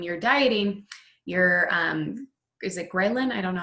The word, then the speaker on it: ghrelin: So when you're dieting, your is it ghrelin? I don't know how to pronounce it correctly.